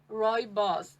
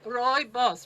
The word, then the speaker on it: Rooibos: how we pronounce it it's basically like roy and his boss roy boss unless roy is a boss but roy boss repeat after me guys roy boss and uh so most